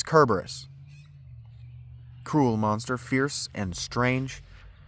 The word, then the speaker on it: Cerberus: a lancenated C, so they don't have a C that makes a S sound. In fact, they uh Latin has two letters that make the C sound. And so Cberus's name would be spelled with an S in Greek, and it's just not. So his name is Kerberus.